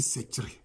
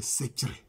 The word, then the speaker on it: Sekré: c'est sec c'est un c'est un nom en langue tu qui se dit secr c'est comme ça que ça ça se dit la bonne prononciation c'est secr c'est comme ça que